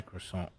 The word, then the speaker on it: croissant: I say croissant. No T. T is silent.